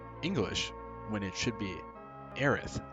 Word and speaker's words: Aerith: been pronouncing eddie as heiress in in english when it should be aerith because su should be translated as the th sounds anyway we'll talk more